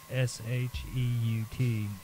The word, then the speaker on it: Sheut: And Amit is spelled A-M-M-I-T, and Maat is spelled M-A-A-T. Okay. Then you have the Sheut, which is the S-H-E-U-T, and that's the shadow.